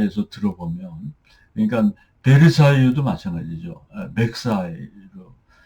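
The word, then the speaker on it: Versailles: 그러니까 말세유 같은 것도 마르세유로 발음하는게 아니라 막세이라고 발음을 하거든요. 제가 빨리 해서 들어보면. 그러니깐 베르사이도 마찬가지죠. 맥사이로 어 들립니다.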